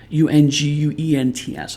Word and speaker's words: unguent: Unguents. I'm not familiar with that word. And beauty aids. One moment. I'm going to look that one up. Is a unguent, apparently that's how it's pronounced, is a salve for soothing or healing.